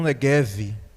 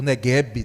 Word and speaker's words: Neguev: sobre o deserto do neguev o neguebe né também tem essa pronúncia e aquele vídeo muito